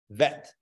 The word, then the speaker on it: vet: is an easier sound the dot gives it a Dage gives it a little emphasis so bet vet okay but how do